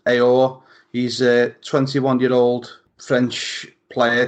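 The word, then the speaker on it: Aouar: I think his surname's pronounced Aor.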